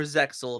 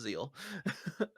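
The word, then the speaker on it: ZEXAL: Or Zexel, if you guys want to pronounce the X, but I've been corrected violently that it's Zeal.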